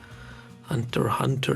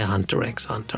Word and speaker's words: Hunter x Hunter: I'm still not completely sure whether you should be pronouncing the X's, but I've decided no. Not going to say Hunter X Hunter. I'm just going to say Hunter Hunter.